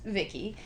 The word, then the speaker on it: Vicki: have um well first of all she's named Vicky but that's a pronunciation of her acronym yes which is voice input child identic right um pronounced Vicky and her features she has superhuman strength and